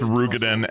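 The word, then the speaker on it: Roegadyn: はい、では続いて I am more blown away that it's pronounced Rugadin and not Let's Rogadin.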